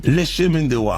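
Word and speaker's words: Le Chemin du Roi: Speaking of, how the hell you pronounce Lechem? Lechemin-de-Roi. Okay. It's the King's Path. King's Path. Chemin de Roi.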